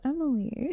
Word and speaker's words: Amalia: No, it's pronounced Emily.